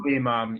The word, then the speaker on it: Ali Imam: Uh, I believe we have, and I might mispronounce it, but Ali Imam. Imam? Ali Imam.